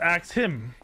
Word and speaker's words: Axum: Axum, pronounced Axe-him.